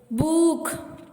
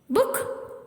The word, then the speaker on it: book: பூக், duke, லூக் அப்படின்னு சொல்லக்கூடாது. அது தப்பு. இந்த வார்த்தையில ஷார்ட் ஊ சவுண்டு தான் வருது. அப்ப நம்ம ஷார்ட்டா தான் சொல்லணும். புக். Say with me. Book.